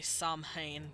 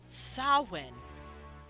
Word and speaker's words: Samhain: and it uses an mh to denote a w sound we've all seen the